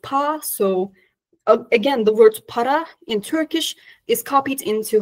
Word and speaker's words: para: So again, the word para in Turkish is copied into Hamshen with changing its dialect in northeastern Turkish dialect, the Karadeniz ağzı. It's pronounced as pa instead of para, but when they pluralize it, it takes the suffix iye.